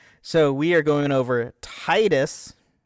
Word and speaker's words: Tidus: So, we are going over Titus, not Tetus. Like, apparently, what's it supposed to be, but it's Titus. I am sorry if that offends you or you get upset about that, but it's that's how I see it.